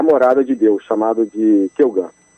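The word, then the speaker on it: Ceugant: Que se escreve como, hein? Bom, mantendo a grafia também, né, do século XIX, C de casa, E, U, G de gato, A, N de Nair, T de tatu. Isso. Pronuncia Kelgan.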